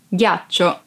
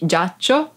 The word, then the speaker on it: ghiaccio: Ghiaccio. Ice. Ghiaccio. Ice. Be careful because if you don't pronounce G as an hard sound like G, it would be giaccio, that it's a verb and means lie down.